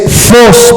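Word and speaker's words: φῶς: de que lo apunten es fos pero se escribe ph en vez de F PH Y esa es la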